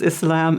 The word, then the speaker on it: Islam: we have so many different pronunciations, but the most correct is Islam and Muslim.